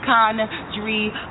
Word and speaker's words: Sha'Condria: eye and correct them it's pronounced uh Connor dream say it right I don't say it